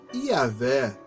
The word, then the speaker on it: Iavé: Então ficou a pronúncia Iavé.